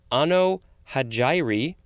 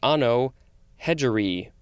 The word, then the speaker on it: Anno Hegirae: to the pronunciation guide, it can be pronounced 2 different ways. Either Anno Hagiri or Anno Hegiri.